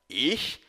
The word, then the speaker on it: ich: Vale lembrar que as letras CH no alemão têm o som de um chiado, como na palavra cachorro, porém pronunciado mais no fundo da garganta.